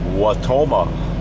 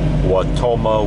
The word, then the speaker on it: Wautoma: to the town of watoma Wisconsin W is spelled w a u t o m a watoma Wisconsin currently traveling on